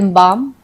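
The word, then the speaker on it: balm: कि GUAR guard, BAL बाम, PALM पाम, इन सब में L जो है वो साइलेंट है, गार्ड में U साइलेंट है, L बाम में हम L बालम नहीं पढ़ते, हम बाम बोलते हैं, इसको हम पालम नहीं पाम पढ़ते हैं।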